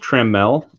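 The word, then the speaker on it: Trammell: miss them paris uh this is pronounced trimmel in case anyone was curious i saw a video he said it triholo dalbeck cassis sanford o'neil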